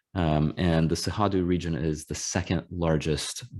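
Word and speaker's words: Cerrado: region which is it's spelled c-e-r-r-a-d-o but it's pronounced sehadu and the sahadu region is the second largest biome in brazil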